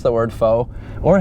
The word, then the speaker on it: faux: I for one didn't know how to pronounce the word faux or how to spell it. Yeah, I got a fox finish. Faux, yeah, exactly.